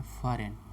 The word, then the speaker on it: foreign: फॉरेन उच्चारण किया जाता है फॉरेन, ना कि ए होता है।